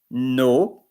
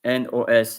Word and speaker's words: nos: And then in the plural, nos, vos, leur. So as I told NOS, you don't say nos, you say no.